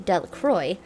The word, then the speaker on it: Delacroix: jones and dickie delecrew the villagers pronounced his name delacroix eventually made a great